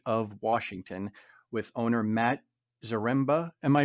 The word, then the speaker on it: Zaremba: in the state of Washington with owner Matt zaremba am I pronouncing that right Matt yes sir and Tony